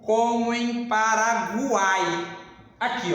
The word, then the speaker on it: Paraguai: Na palavra Paraguai, eu tenho o meu tritongo, porque foneticamente eu pronunciei o U, o A e o I quando eu falo Guai, ok?